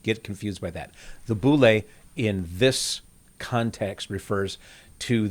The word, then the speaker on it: boule: One of those is the boule, B-O-U-L-E. The boule is actually how it's pronounced in Greek, the boule.